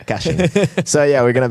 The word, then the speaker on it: caching: quite cool, which is about-- how do you pronounce it? Caching? Cay-shing? MARK MANDEL: Cay-shing. FRANCESC CAMPOY: Yeah, that's wrong. Caching.